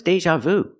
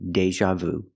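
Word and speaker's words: déjà vu: before so I'm having Deja Vu pronunciation Deja use the long a like play and say day Deja use the z sound like an usual Deja Deja Vu I'm having Deja Vu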